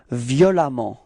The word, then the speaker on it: violemment: And it does give us this adverb violemment. Okay, so same concept. You pronounce it like if there was a.